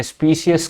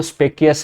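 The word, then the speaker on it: specious: స్పీషియస్ claim, okay. చూసారు కదా, స్పీషియస్ claim, okay. ఇది స్పీషియస్ కింద స్పెల్లింగ్ దీని ప్రొనౌన్సియేషన్లో తెలుస్తుంది అనమాట. నేనేమో స్పెక్యుయస్ అని చదివాను, కానీ PRONUNCIATION ప్రొనౌన్సియేషన్కి సంబంధించి స్పీసీస్, SPECIES.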